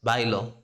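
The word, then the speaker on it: bailo: talking about conjugations um there's a slight difference in the pronunciation um if you are saying I dance that's Bilo but but if you want to say she danced he danced it danced in the past that's by law that's by law that's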